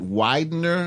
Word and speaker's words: Widener: Funny thing, did a little research on you, went to, is it Widener? Is that, did I pronounce it right?